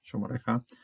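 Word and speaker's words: שֹׁמְרֶךָ: Kamas hatuv is when you have a closed syllable, it's not accented, and so then you have to keep it as O. So it keeps basically the same O as this holom over here, Shomorecha.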